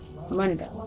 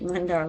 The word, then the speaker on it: Mundar: Mundar. Alright. Well, I will try to remember that. My memory is like a steel sieve. Alright, Mundar, like Thundar.